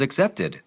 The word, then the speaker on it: accepted: 유사합니다 그 제안은 그다음에 accept라고 발음하지 않고 어떻게 들려요 지금 잘 들어보세요 the offer was accepted accepted 이렇게 되죠 어 제외하는이라는 제외하다 의미의 그이 전치사도 except 받아들이다 a 그 단어도 동사도 except 해요 구분이 안 돼요 역시